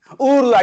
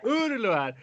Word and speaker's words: Uğurluer: Uğurluer, yeah, that G with a thing on top of it is a silent G in Turkish, actually. So it's like a long U. Yeah. Uğurluer.